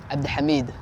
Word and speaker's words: Abdihamid: Not many people have the full name, and the real way to pronounce it in Somali is Abdihamid.